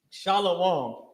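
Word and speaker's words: שָׁלוֹם: Shalom is sha law connected law ma with ma at the end uh singular right it's just the it's just the ma is not pronounced heavily because of how you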